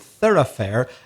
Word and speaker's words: thoroughfare: an important third affair i better spell that word t-h-o-r-o-u-g-h-f-a-r-e no relation from the spending to the to the pronunciation so a main road is an important thoroughfare a thoroughfare is just